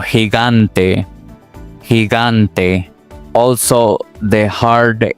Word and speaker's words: gigante: For example, gente o gigante, gigante.